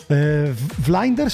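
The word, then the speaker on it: Vlinders: jeszcze drugi projekt tak flinders się to czyta czyta się to flinders flinders flinders jak ktoś flinders jak ktoś nie wie jak ktoś nie wie jak to na przykład wyszukać jak to wpisać sobie to przez v tak w Google Tłumacz Piszcie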